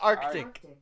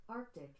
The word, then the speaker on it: arctic: what i said arctic no you're saying arctic arctic that's not arctic you have to pronounce both k's arctic there's no caves in